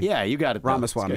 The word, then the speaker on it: Ramaswamy: Yeah, it's like Ramaswamy, like CD-ROM, but yeah. Well, I said Ramaswamy. Yeah, you got it. though. Ramaswamy.